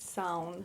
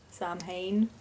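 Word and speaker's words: Samhain: You pronounce it sound, not Sam Hayne. It's spelled s a m h a i n. Oh, and a lot of people think it's Sam Hayne or something like that because if it was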